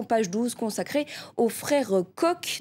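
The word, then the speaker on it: Koch: 12 consacrée au frères coq donc ça c'estcrit coche mais ça se prononce coq c'estes milliardaires qui paralys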